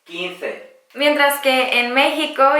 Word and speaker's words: quince: cuanto España y latinoamérica en España la z y la c delante de las vocales se pronuncian como si fuera una th del inglés 15 mientras que en México